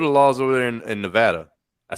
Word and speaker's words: Nevada: Like, what are the laws over there in Nevada?